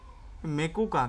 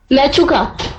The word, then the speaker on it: Mechuka: ओ माय गॉड, मेचुका, मेकुका, क्या है ये? मेकुका, मैचुका। मेचुका, हाँ ठीक है। अभी उसका उच्चारण क्या है ये तो पता नहीं, स्पेल कर देता हूं मैं।